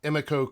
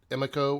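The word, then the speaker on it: Emiko: is the character of Emeco Queen I think it's how they pronounce it Emeco or amico Queen and so ya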